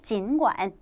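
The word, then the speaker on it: 尽管: 중요한 빈출 어휘가 나왔습니다 여러분 어떻게 읽어요 진관 진관이라고 읽죠 진관 하면 뜻이 뭡니까 비록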